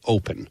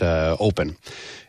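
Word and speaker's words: Opn: It's called Open, and it's spelled O-P-N, but we pronounce it Open.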